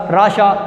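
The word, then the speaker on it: رعشہ: آخری لفظ ہے راشا۔ رے کے اوپر لگے گی زبر، این کے اوپر لگے گی جزم، اور شین کے اوپر آ جائے گی زبر، سو لفظ بن جائے گا راشا۔ یہ ہمارے اعراب والے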